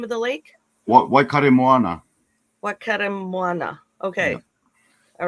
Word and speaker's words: Waikaremoana: So I like so yeah, for our guests, I guess what's Whakatemoana? Is that how you pronounce the name of the lake? Waikaremoana.